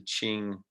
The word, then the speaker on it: Qing: called the qing and i know it's spelt with a cue but pronunciation wise it's the qing dynasty at first the chinese